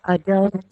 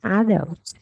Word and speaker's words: adult: Yeah, adult hoặc là adult. Tức là mình stress the first or the second syllable. That's okay. Adult Yeah, or adult. yeah, that's okay.